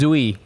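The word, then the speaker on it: Duy: My Vietnamese name is Zui. Zooey. But Zooey is so easy to pronounce.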